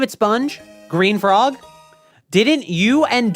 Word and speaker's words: Spung: Okay, it is S-P-U-N-G, by the way. Don't ask why it's spelled spung, but it's pronounced sponge, okay?